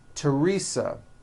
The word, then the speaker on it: Teresa: Although these next words and names are spelled with a TH, they are pronounced as if they were spelled with a normal T, like that.